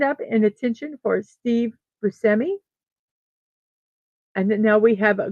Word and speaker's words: Buscemi: Ugh, they don't always put pronunciations in if they put a pronunciation. Buscemi. Buscemi is how it's the pronunciation is.